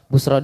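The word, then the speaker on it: بصرى: Busra di sini ada alif maksurahnya juga. Ya-nya yang enggak kebaca gitu. Alif maksurah begitu bentuk ya tapi enggak kebaca. Bacanya fathah. Kadang ya begitu alif maksurah dibaca fathah. Maksudnya enggak dibaca gitu ya-nya.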